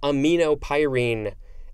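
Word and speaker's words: aminopyrine: a-n-t-i-l-e-u-k-e-m-i-c next we have amino pyrene a-m-i-n-o p-y-r-i-n-e it's a bunch of long vowels uh me no pyrene this is a noun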